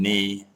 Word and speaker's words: knee: and the silent G, silent K and knee, or night, and the silent G and light.